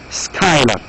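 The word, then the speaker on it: Schuyler: Again, this name is not easy to pronounce. You pronounce it as Skylar.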